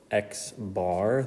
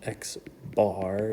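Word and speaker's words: x̄: And so what that looks like with this sigma notation is this is pronounced uh xbar. That's how we say it. This is the symbol for mean and it's pronounced xbar is kind of the bar on top.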